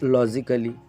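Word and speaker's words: logically: जैसे यहाँ पे भी आप ए देखोगे, ए के बाद में डबल यल वाई है तो लॉजिकली क्या हो गया? लॉजिकली।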